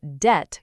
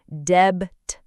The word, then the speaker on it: debt: Debt is spelled d e b t, but we say debt. The b just hides in there silently.